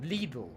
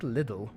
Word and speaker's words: Lidl: Yeah, that's how you pronounce Lidl. Lidl. Not Lidl.